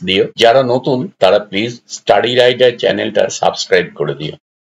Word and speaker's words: Stary: Polish ভাষায় STARY, স্টারি মানে হচ্ছে ওল্ড, মানে ওল্ড রাইডার না বলে এটাকে স্টারি রাইডার। অনেকে স্টারি উচ্চারণটা নানা রকম অন্যরকম করো, তাদের জন্য এটা বললাম।